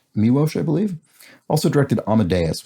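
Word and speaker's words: Miloš: of the cuckoo's nest this is uh miuosh foreman i believe that's how it's pronounced miwosh i believe also directed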